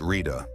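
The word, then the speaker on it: Ṛta: Ira, pronounced Rita.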